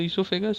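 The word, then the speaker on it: oesophagus: And start में ओ आता है लेकिन ओ साइलेंट है। ये ऐसे आप पढ़िएगा तो इससोफेगस ऐसे पढ़िएगा तो इससोफेगस लेकिन पढ़ा ये इससोफेगस चीज आता है।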